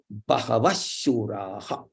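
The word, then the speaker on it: बहवश्शूराः: Instead of this Visarga, make one ish there and say Bahavashuraha, Bahavashuraha, Bahavashuraha. Like that, you have to pronounce like that.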